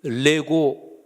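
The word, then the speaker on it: λέγω: 그런 뜻이 아멘 그리고 레고 뭐 장난감을 내고 it's 그거랑 발음이 똑같은데 헬라 올 내고 그러면은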